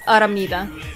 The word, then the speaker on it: Aramnida: one if you're worried about pronouncing my nickname wrong it's aramida it's autumn need to play it oh my